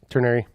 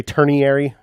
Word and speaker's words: ternary: it's spelled like that ternary some people say turn iary there is no I there it's not turning area this ternary which if